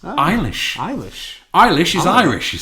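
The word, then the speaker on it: Eilis: name again ishish e i l i s iish iish iish is Irish you see and yes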